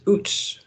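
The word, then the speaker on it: Uz: and it's saying that the proper way to pronounce that is OOTS OOTS wooded okay so this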